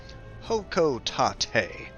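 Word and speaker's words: Hocotate: Seems we have confirmation on the pronunciation. Hokotate.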